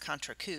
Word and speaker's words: contrecoup: which is actually pronounced contrecoup because again the P is silent type of injury coup